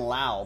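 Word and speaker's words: Lowe: uh that rey's relic brandon lau by the way is how he pronounces it john mccall with the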